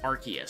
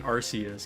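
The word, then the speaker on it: Arceus: Some dude in the comment section was like, "I've never heard someone mispronounce Archus so many times in one video." Like, cuz I was saying Arus cuz that's how I've always said it.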